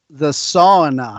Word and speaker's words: sauna: So, really quick, talk to me about the sauna. How do you say sauna properly? Sauna in Finnish. Sauna. Yeah. You guys say sauna, but it's the same.